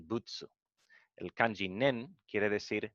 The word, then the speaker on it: 仏: Butsu es Buda. Es la pronunciación japonesa de Buda.